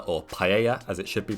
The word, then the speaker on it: paella: let's get cooking before we make that delicious Pella or paella as it should be pronounced we are going to prepare the tofu